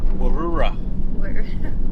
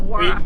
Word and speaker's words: Warroora: Warroora. Warroora? No, Warra. we actually know how to say this one.